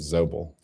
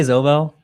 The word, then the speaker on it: Zobel: Zobel or is it Zoble? Honestly, I don't know. I say Zobel. I know my uncle says it like Zoel.